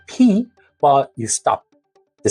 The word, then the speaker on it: ㅍ: First, you got to close your lips and build up pressure and then release it with a strong puff of air like a small explosion.